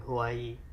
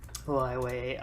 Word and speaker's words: Huawei: Isn't it Huawei? Hawaii. Wow. I don't know. That's what I thought it was. Let's look it up. Huawei.